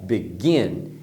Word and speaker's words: begin: Begin tem duas sílabas, begin, que é o verbo começar. Você percebeu que na pronúncia a segunda sílaba é mais forte? Então a pronúncia correta é begin.